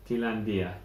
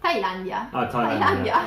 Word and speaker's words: Thailandia: Is it Thailandia. Thailandia. Okay. Yeah, just read it. Yes, yeah. Thailandia, the way you pronounce it.